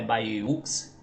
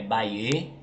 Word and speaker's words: Bayeux: trânsito bem mais tranquilo baer né se pronuncia desse jeito Bê não é ba ux é Baê é um município do